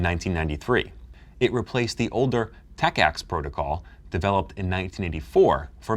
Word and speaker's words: TACACS+: TACACS+, pronounced TACACS+.